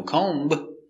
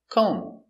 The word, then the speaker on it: comb: are cute very good example comb no comb the v is silent comb comb is a noun